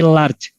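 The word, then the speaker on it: لارد: Ada tulisan misalnya di bungkus rotinya itu ada tulisan Arabnya lam, alif, ro, dal. Ini dibacanya apa? Tulisannya Arab. Halal? Bentar dulu. Bukan halal ya, tapi large.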